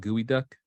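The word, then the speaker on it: geoduck: dish um I think it's called gooey duck because they make that's the joke and I was like I it's spelled this way but they it was pronounced like this way and Ricky looks at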